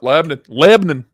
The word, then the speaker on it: Lebanon: be lebanon yeah yeah lebanon it's pronounced lebanon leb n n so it's like nerc